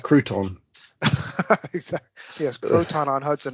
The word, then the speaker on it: Croton: Croton is also a place name in New York State, although we spell it with a C rather than a K. Okay, so more like Crouton.